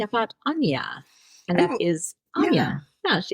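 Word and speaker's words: Áine: This month, I'm talking about Anya, and that is Anya.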